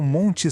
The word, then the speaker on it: mont: O ponto principal aqui é a palavra mont. Esquece o N e o T no final, a gente não pronuncia. O som vira nasal. Pensa em mont, com esse som anasalado.